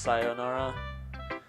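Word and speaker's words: さよなら: Nora whatever it's pronounced I know the actual word is pronounced word phrase whatever is pronounced sayonara but I think it should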